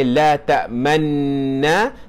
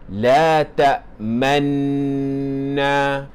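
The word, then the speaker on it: لَا تَأْمَنَّا: Jangan dibaca sebagai la tak tamna tetapi bacanya sebagai la takmanna. Dibaca dengan dengung berserta dengan isyarat muncungkan mulut.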